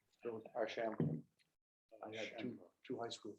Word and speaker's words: Archambault: Which syllable do you stress? Archambault.